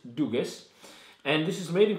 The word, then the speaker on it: Dugges: I'm saying it wrong, actually. I found out in Sweden. It's Dugas. Dugas? Dugas, not Dugas.